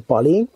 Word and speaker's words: Pa11y: Konkrétně tam zmiňovali nástroj, nevím, jestli si dobře pamatuju ten jeho název, píše se to PA11Y, čte se to tuším Pali.